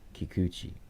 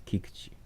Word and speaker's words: Kikuchi: you um you hear a lot of people pronounce his name uh Kikuchi Kikuchi is but is the pronunciation is not Kikuchi it's Kikuchi this is a ground ball to Jeremy pñ